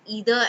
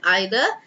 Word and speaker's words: either: either anyone neither so you can pronounce either as both either and either and neither as both neither and neither nobody nobody is here